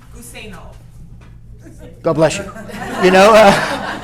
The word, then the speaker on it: Guseno: Guseno. God bless you. You know, Guseno.